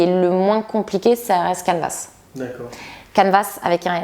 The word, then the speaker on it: Canvas: Canvas, pardon, gratuit. Il est gratuit. Mais le S en français, on ne le prononce pas. Oui, il faut le prononcer là.